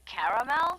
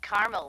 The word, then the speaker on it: caramel: getting caramel oh the caramel yeah that's what I said Tina actually you said caramel when it's pronounced caramel can't we just call